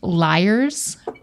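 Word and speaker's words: Lyre's: I really like the name of this brand because it's pronounced Liars.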